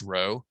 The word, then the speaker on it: rho: r is it's pronounced it's spelled rho it's pronounced row if you draw it